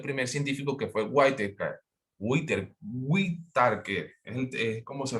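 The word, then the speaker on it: Whittaker: Whitaker, es como se pronuncia el apellido.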